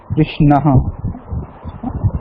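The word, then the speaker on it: कृष्णः: No, Krishna ha. Akara is separately pronounced. It's not akara, it's a ha. It's a mahaprana sound, slight of mahaprana sound.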